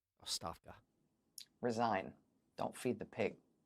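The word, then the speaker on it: оставка: Like I said, it looks to our English-speaking Western eyes like uh agabka, but uh I think it's pronounced Oafka. Oafka.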